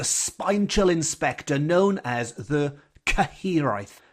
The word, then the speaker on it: Cyhyraeth: And this episode is dedicated to the spine-chilling spectre known as the Cyhyraeth. Cyhyraeth, which is spelt Cyhyraeth, Cyhyraeth, which is a Welsh death omen, a good old death omen that is heard rather than seen.